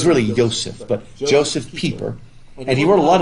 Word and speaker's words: Pieper: We want to say Piper, but the proper pronunciation is Pieper. P-I-E. It's really Joseph, but Joseph Pieper.